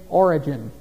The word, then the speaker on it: Origen: Now, the head of the Gnostics at Alexandria at that time was a man named Origen. Not Origen as the beginning of something. It's spelled differently. O-R-I-G-E-N.